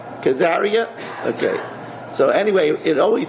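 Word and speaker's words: Caesarea: English maybe somebody knows cesaria karia it's pronounced khazaria okay so anyway it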